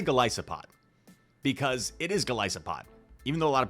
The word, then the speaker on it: Golisopod: It is Golisopod.